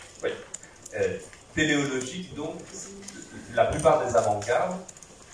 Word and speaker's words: téléologique: Non, non, téléologique comme la télé. Pas théologique. Hein. Donc, téléologique, comme ça se prononce, il n'y a pas de H, il n'y a pas de Y gâché, tout ça.